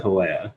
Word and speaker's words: Hawea: I pronounce it Hawea. Hawea. And that's somebody might tell me I'm wrong later upon reading it, but that's the pronunciation that I came up with.